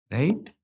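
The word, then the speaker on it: ρ: है ना कि ऑलरेडी रेजिस्टेंस चल रहा था। अब स्पेसिफिक रेजिस्टेंस क्या होता है? रो इसको क्या प्रोनाउंस करते हैं दोस्तों?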